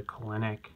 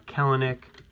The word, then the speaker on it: Kelenic: There's a Kelenic. Very cool. Or a Kelenic. Heard it pronounced both ways.